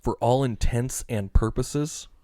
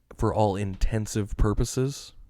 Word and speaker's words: for all intents and purposes: For all intents and purposes is the correct way to say that. What do people say? For all intensive purposes.